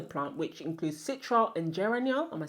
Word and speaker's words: geraniol: are in the plant, which includes citral and geraniol.